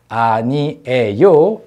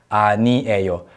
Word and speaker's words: 아니에요: new yo three syllables whereas new a yo is a conjugated form of the verb needa which means to be not to be not something okay not to be not somewhere right to be not something so new a oh four syllables so in certain cases